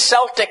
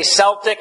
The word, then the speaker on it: Celtic: the C all these Celtic Christians you say Celtic a Celtic you can pronounce it either I've heard it pronounced either way so the the selts